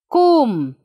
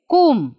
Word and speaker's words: comb: it children yeah see kum we are not pronouncing b it's kum how we are pronouncing